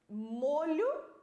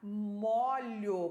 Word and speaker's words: molho: verbo molhar né Então essa diferença também na pronúncia da palavra molho é um som fechado no o molho é um som